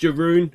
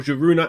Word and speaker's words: Jarun: I think it is pronounced Jarun or Jaruna according to the intro song there.